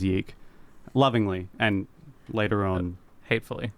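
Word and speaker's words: YIIK: numerals a lot, so it looks like it's spelled ye. Yeah. Um, so fans and haters alike often refer to the game as ye. What a legacy. Yeah. So, we'll be referring to the game as Yeeke lovingly and later on hatefully.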